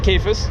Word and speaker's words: Kayfes: We're hanging out at the Big Iron Classic 2022, and I'm with Kayfes. Yep. Did I pronounce that right?